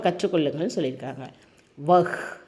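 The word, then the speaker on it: वह: உச்சரிப்பை கற்றுக்கொள்ளுங்கள்ன்னு சொல்லி இருக்காங்க வஹ் வஹான் யஹ் யஹான் இந்த வஹ் யஹ் வந்து சில பேருக்கு சரியா சொல்ல வராது யக்கு வக்கு அப்படின்னு சொல்லுவாங்க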